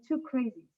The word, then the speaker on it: 2CRSI: the ceo of 2crsi i know the name is quite difficult to remember and to pronounce but to give you a trick usually english speakers pronounce it pronounce our name too crazy so maybe with too crazy will be easier and why too crazy